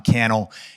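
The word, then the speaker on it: Cannell: And if we're just meeting, my name is Kel and it happens to rhyme with YouTube channel.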